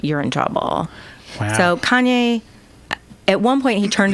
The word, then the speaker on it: Kanye: a little bit China I'm sorry Kanye I'm from Ohio we say Kenny that's how we pronounce it well okay where you're